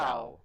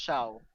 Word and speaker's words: Xiao: I think because it's actually spelled, I guess, Yeah, Xiao, which that's is pronounced Xi Shao. Chow. It's Yeah. pronounced Shao. Yeah, as in Shaolin or something like that.